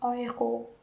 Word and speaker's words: Euro: Jadi, by the way guys, fun fact, euro itu kalau kita di Jerman ngomongnya euro. EU itu dibacanya oi. Jadi euro.